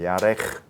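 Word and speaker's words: ירך: 야 야흐 여기 여기 카프라는이 발음도 목에서 나오는 센 발음 있죠 그래서 야레 요게 가장 센 발음이 목에서 나오는 발음 중에 야크 케 키 키 발음인데 키 발음을 목에서 꺼내는 발음이 야흐 야 예 아주 좋습니다 아주 잘했어요 그렇게 발음하면 유대인들이 아 얘는 지금 카프 발음하고 있구나 딱 뒤에 들어와 이게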